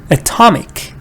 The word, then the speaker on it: atomic: atomic so you see remember when a stress when a when a syllable is stressed it's not sure because here we have a stress it should not be sure is never stressed what is schwa